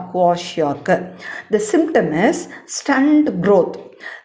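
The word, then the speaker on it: Kwashiorkor: You have to pronounce properly. So repeat it. Kwashiorkar. Kwashiorkar. Kwashiorkar.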